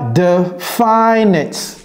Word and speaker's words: definite: Ce n'est pas definite. Ce n'est pas definite, ce n'est pas definite. On met l'accent sur la première syllabe, ok?